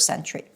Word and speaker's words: century: This word has two syllables. The primary stress is on the first syllable sen. And then the second syllable is ch tree tree. So it's a ch sound, an r, and a high e. Tree.